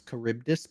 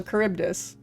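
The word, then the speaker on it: Charybdis: That's not I think it would be closer to a K sound. Yeah. So, caribus. I'm inclined to lean towards Kuribdus being correct because it's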